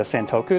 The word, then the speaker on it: santoku: this is a stink santo i can never pronounce this correctly it's a santoku knife these are good for cutting vegetables they